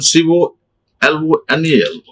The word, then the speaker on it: colonel: And see this one, C-O-L-O-N-E-L. Colonel. Not a colonel. Many people, he is a colonel.